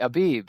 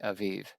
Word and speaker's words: aviv: Now, in your King James version, Michael says it'll say the month of the aib instead of the v sound. It's the b sound. I don't care how you pronounce it.